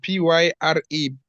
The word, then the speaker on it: pyre: P-Y-R-E, pie. Is it? It's like Fire.